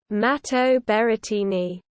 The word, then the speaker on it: Matteo Berrettini: matteo berettini italian pronunciation mato beretini born the 12th of